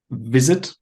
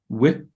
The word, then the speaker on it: visit: taste you said test sometimes when you need to make a v sound you make a w sound for example visit but you say with instead of vit so visit in government government you said